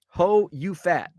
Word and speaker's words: Ho You Fat: And yes, it's spelled like it sounds. Ho space YOU space FAT. Ho You Fat.